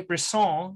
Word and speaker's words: Brisson: it is it or bristen BR okay I don't know if I can but I'll try hello and welcome to Podiatry practice Mastery my name is Don pelto I have Bron did I say it right you got her